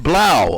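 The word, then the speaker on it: Blough: David Blau, apparently that's how it's pronounced, 9 of 19 and 2 TDs.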